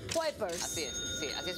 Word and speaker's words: Kuipers: A ver, enséñame a pronunciar. Jorn Kuipers. Kuipers.